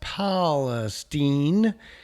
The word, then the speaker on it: Palestine: Let's jump over to the artificial intelligence which tells us Palestine is pronounced Palestine.